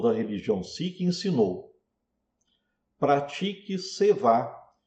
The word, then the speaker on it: Seva: vezes utilizando o termo Seva, que geralmente se pronuncia como Seva, que é a pronúncia em Hindi.